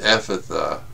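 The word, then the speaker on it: Ephphatha: By the way, Ephatha is pronounced Ephatha. I'll mess it up anyway, for those who care. In the Aramaic, the command was et patha, and it did not simply involve cleaning out the fellow's closed-off ears.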